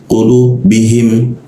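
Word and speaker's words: قُلُوبِهِمْ: Nah, cara mengucapkannya jangan sampai ketukar dengan ka ya. Kalau ka lidahnya diturunkan ujung bagian belakang lidahnya itu diturunkan. Kalau qo dinaikkan ya jadi qo udara tidak kelar.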